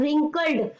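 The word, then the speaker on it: wrinkled: इन डी वर्ल्ड रिंकल्ड रिंकल्ड में silent word कौन सा है बोल के देखो रिंकल्ड व तो साउंड ही नहीं आया है ना रॉ का भी साउंड आया को कभी साउंड आया ठीक है ना कभी साउंड आया तो व जो है वो साइलेंट है ठीक है चूस डी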